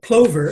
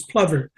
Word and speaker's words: plover: it I titled it Plover and then my good friend Bill Gibson uh corrected my pronunciation and said no Dennis it's Plover and uh uh so I'm